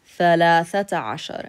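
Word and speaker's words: ثلاثة عشر: Thalathata ashar. And you're going to pronounce it with dot marbuta because all the rest of the numbers here end in a dot marbuta.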